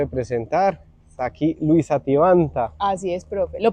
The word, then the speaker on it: Tibanta: Está aquí Luisa Tivanta. Así es, profe. Lo pronunció muy bien. Sí, no me costó aprenderlo, pero bien. Yo antes lo pronunciaba con C y es con T. Sivanta.